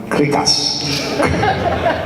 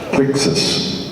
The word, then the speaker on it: Crixus: And I remember my German manager couldn't even pronounce what the name was, She went, "It's Krikas." Krakas. I was like, "What?" Crixus.